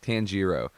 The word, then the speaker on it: Tanjiro: remember it uh tajiro or tanjiro i think tanjiro the way that uh he learned to kill